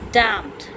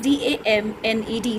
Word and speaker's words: damned: Next is damned. N is silent. Spelling is D-A-M-N-E-D, damned means a word used to express anger with someone or something.